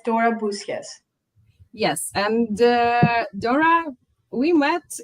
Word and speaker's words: Boussias: Is it correct pronunciation? Yeah, it's Dora Boussias.